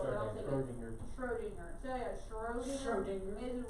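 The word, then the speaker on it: Schrödinger: it Strogenberg? I got I that. will take that because it's been a Schrodinger. while. Okay, how do you say it for real? But I'll take it. Schrodinger. Schrodinger.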